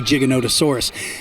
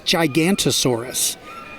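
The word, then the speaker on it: Giganotosaurus: a favorite Wow what a great choice especially gigolotesaurus you know so many times Hennessy people mispronounce its name when they see the word gigolotesaurus they think it says gigantosaurus and so many people tell me they like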